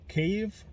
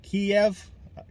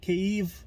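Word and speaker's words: Kyiv: this uh pronounce it cave not kiev kiev is saying it in russian so please say kev just i know it's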